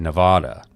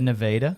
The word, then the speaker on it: Nevada: A lady corrected me on a plane one time because I said Nevada, and she was from Nevada. No, she said Nevada. Nevada.